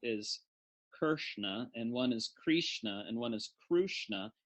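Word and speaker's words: Kṛṣṇa: you spell Krishna now notice I want you to notice it's not Kershner it's not Krishna with an eye right so it's not Krishna it's not crucian uh it's in between all three so if we draw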